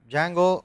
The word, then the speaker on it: Django: say most buzz are Django spelt with a d Django or there is a